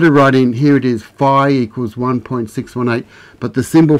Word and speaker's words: phi: we're talking about like the f sound in the ancient greek was phi some some people pronounce it fee so this was the